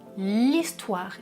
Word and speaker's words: histoire: C'est un H muet ici. Je dis l'histoire. Il y a une élision. Et au pluriel, je fais la liaison. Je dis des histoires.